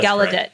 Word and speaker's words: Gallaudet: it's about um I don't know if I'm pronouncing the name of the University correctly gallaudet gallaudet gallaudet yeah gallaudet thank you um in Washington DC that's where